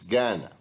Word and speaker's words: Ghana: It's Ghana. We pronounce the GH as egg, whereas in these words we don't pronounce the GH, way and neighbor.